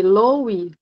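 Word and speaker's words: Löwy: Não, era com L, Lowe. Era Levi. Lowe, É Levi, né? Pronuncia Levi. É o O tremado, né?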